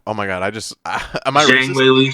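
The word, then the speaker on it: 张伟丽: And Zhang Weili, it's like, did I just say her name wrong? Oh my god, am I Zhang Weili? Zhang Weili.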